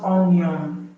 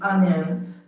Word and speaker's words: onion: It's not onion. It's onion. The O in onion has the A sound.